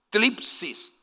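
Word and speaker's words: θλῖψις: Cuando vamos a estudiar la palabra aflicción, que también equivale a tribulación, utiliza una palabra que en griego se pronunciaría tlipsis. Tlipsis, esa es la palabra correcta, que significa, en otra palabra, significa angustia y aflicción.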